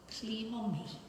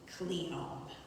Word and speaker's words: Cleome: I preferred to call Cleome, my lilting 3-syllable mispronunciation of the plain trochee Cleome, genus name I learned from reading seed packets, never heard anyone say.